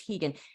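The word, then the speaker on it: Rigan: is hegan Machado it's it's spelled r i g- an but it's Portuguese so it's hegan he has trained oh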